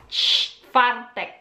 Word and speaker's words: czwartek: Okay, Thursday, Czwartek, Czwartek, Czwartek, Czwartek, Czwartek, Thursday, Czwartek. So, CZ and W pronounced as V, CZ pronounced as CH, Czwartek.